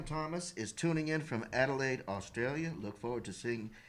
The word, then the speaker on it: Adelaide: for all the laughs sam where in australia adelaide have you heard of this before no sir do you know if you're pronouncing it correctly i'm pretty sure how's it